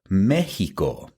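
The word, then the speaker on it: México: me x i o, but we still say Mexico pron, you know, which is the way that you would pronounce me e j i o."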